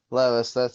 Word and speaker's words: Levis: Levis.